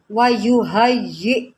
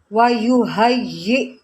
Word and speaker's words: وَيُهَيِّئْ: کو رواں میں پڑھیں گے، اس کے بعد ہجے کریں گے۔ وَيُهَيِّئْ، وَيُهَيِّئْ، دوبارہ پڑھتے ہیں وَيُهَيِّئْ۔ اب ہم اس کو